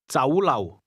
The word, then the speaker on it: 酒樓: The Cantonese word restaurant is pronounced with a combination of mid-rising and low-level tones. Say again, restaurant. 酒樓， Now say, to the restaurant, or to go to the restaurant.